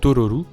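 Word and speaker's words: トロル: sur les trolls qui se prononce normalement en japonais Tororu, et Totoro lui faisant penser à un troll, elle l'a appelé ainsi en prononçant mal le mot.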